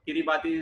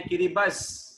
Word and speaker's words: Kiribati: Okay, no, Kiribati is not the right way to pronounce it. Kiribati. No, इस country का right pronunciation है किरिबस.